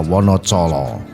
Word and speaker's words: Wonocolo: Dulunya Wonocolo mempunyai ejaan Wonodijolo, dibaca Wonocolo, di mana Wono yang berarti alas atau hutan, Colo berarti obor atau penerang.